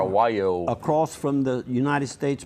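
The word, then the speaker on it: Wallior: A lot of people don't know how to spell that, but it's W-A-L-L-I-O-R, Wyo.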